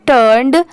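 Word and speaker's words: turned: यहाँ पर बस यही प्रोनाउंसिएशन में डिफरेंस होती है, ये टर्न और ये टर्न्ड।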